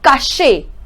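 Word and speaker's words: cacher: Okay, now this one, how we are going to pronounce it? Caché.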